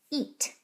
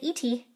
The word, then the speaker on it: ete: Eat. Don't say eaty.